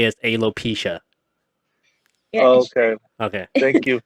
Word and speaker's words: alopecia: alopexia. So I just You said it added, right just now. The correct way to say is alopecia.